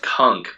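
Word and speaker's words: Cunk: so I've been watching the the show called conk on Earth it's a it's the shown it's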